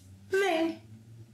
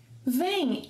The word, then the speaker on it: vêm: Vocês, eles e elas, vem. Vem and vem have the same pronunciation.